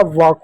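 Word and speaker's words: walk: डब्ल्यू का क्या वो हो जाएगा, ए का बच्चों अ हो जाएगा, एल के का एल साइलेंट होगा, के का क कर दो, हो जाएगा वॉक हो जाएगा।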